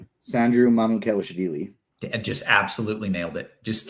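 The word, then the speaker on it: Sandro Mamukelashvili: And can you pronounce his full name? Sandru Mamukelashvili.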